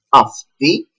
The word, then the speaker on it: αυτοί: Over here we see omicron and iota that I'm gonna teach after the verb είμαι, that is another combination that make together the pronunciation e. Αυτοί είναι, that means they are, but only for masculine people.